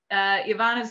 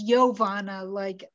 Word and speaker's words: Iovanna: people have said yes, it's Iovanna, like a Y, okay. Like Yocasta, I think is another name where I've seen where it's I O and it's spelled like a Y.